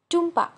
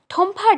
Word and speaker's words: টুম্পা: টুম্পা একটু অবাক হয়ে দেখল মিসেস হেনরিকসন তার নামটা ঠিক ঠিক উচ্চারণ করেছেন। অন্য কেউ হলে টুম্পা রায়হান না বলে বলতো ঠম্পা রায়হান।